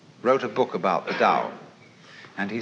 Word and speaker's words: Tao: So their principle of nature is called a Dao. T AO pronounced dao in the Mandarin dialect, Tao in the Shanghai dialect, toe in the Cantonese dialect.